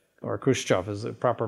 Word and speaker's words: Khrushchev: it was always part of russia crimea and khrushchev or khrushchev is a proper pronunciation in 1954 gave it away to ukraine